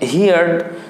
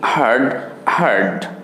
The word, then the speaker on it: heard: দ্বিতীয়টা তাহলে সেই হিসেবে হয় হিয়ার্ড, তৃতীয়টাও হিয়ার্ড। কিন্তু এইখানেই ভুলটা হচ্ছে, এই উচ্চারণ দুটি হিয়ার্ড না হয়ে এই দুটি হবে হার্ড। একটু আলাদা হয়ে গেল, তাই না ব্যাপারটা? ইয়াস, এটাই সঠিক। হিয়ার হার্ড, হিয়ার হার্ড।